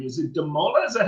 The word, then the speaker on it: Demola: But you say Demola, so long as you're pronouncing these old syllables right, Demola, that's you good.